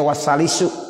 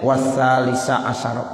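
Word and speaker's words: وثالثَ عشرَ: Makanya enggak boleh dibaca wasalisu. Wasalisu asyara enggak boleh. Wasalisi asyara juga enggak boleh. Selamanya bacanya wasalisa asyara.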